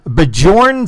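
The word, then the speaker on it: Björn: Bjorn, the J is pronounced as a Y, so it's Bjorn.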